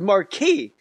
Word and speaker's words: Marquis: were coming out with the marquis but it was marquee yeah it was i don't know what car that was s is silent though right yeah he's like a